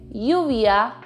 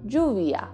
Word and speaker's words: lluvia: Taking, for example, the word rain, you can either say lluvia or lluvia.